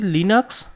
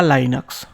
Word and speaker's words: Linux: আরেকটা জিনিস আমি এখানে বলতে চাই যে লিনাক্স বা লাইনাক্স। অনেকে অনেক রকম ভাবে বলে। দুটোই কিন্তু একই মানে উচ্চারণ যদি আপনি করেন লাইনাক্স বা লিনাক্স বলে তাহলে কিন্তু কোনরকম কোন ভুল হবে না।